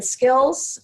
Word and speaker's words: SCILLSS: If you just type in skills, and I know it's spelled oddly, but it's an acronym, but it's 2 L's and 2 S's at the end, it will take you right there.